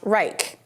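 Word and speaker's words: R3ICH: by a company called R3 ich pronounced Reich he said he did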